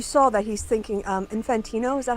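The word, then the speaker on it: Gianni Infantino: But you show you saw that he's thinking um Infantino. Is that how you say his name? Giani Infantino.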